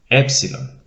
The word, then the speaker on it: epsilon: of the greek alphabet epsilon epsilon it is equivalent to our letter e as in net e e epsilon as